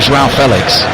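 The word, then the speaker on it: João Félix: as well for Portugal don't laugh at my pronunciation of JAL Felix that's that's that's that's how you're going to say it apparently spot on thank you Chris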